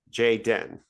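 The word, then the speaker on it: Jay-Den: processed it like doesn't I believe it's pronounced Jay Dan. Jay Den.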